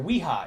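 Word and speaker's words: Wera: we go so ha or no i'm sorry weha it's pronounced weha i looked it up on their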